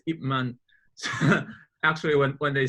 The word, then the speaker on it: Ip Man: it as Ip Man, because in Cantonese the last, like the is it called a, so the P and the N is very subtle. They pronounce it very subtle, only just the lip. You don't pronounce that out. So it's Ip Man.